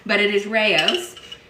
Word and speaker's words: Rao's: For the longest time, I called this Rouse, which, you know, upon reflection, I realized that would be terrible because Rouse is more of like an Asian pronunciation, and this is Italian. But it is Rao's.